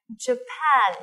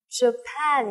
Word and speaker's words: Japan: Japan, nhớ là trọng âm mà trọng âm thứ hai này. Japan, nhìn theo tay cô này. Japan, alright.